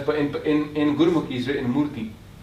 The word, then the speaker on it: Murti: Because every murti, because this word Moorat in Punjabi is written as, but in Gurmukhi is written Murti. It's Murti. But you don't pronounce the Sehari too much.